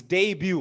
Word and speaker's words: debut: taranga paranavitana on his debut what's this word it's not deebat it's called it's pronounced a debut what is um i